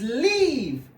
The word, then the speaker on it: leave: This one is leave. We have a long vowel, and this one is live. We have a short vowel.